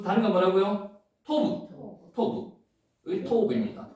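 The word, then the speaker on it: טוב: 토부. 여기 토부입니다. 자, 한번 해보겠습니다. 토부. 그래서 하나 배울게요. 요 단어 글자 위에다가 점이 찍히면 O 발음입니다. 여기에 T 발음이죠. 테트죠. 여기에 버 발음이죠. 그래서 토브라고 읽는 겁니다.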